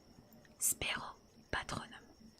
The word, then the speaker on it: Spero patronum: Voici l'incantation qu'il faut prononcer. Lupin s'éclaircit la gorge et dit « Spero patronum.